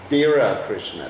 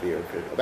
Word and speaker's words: Vira Krishna: That's why Prabhupada gave me the name, Vira Krishna, not Veera Krishna. Actually, he gave the name Veera Krishna, which is the Bengali-sized pronunciation of Vira.